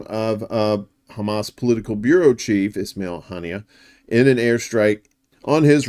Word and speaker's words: Ismail Haniyeh: Ismail Haniyeh, that's how you say it.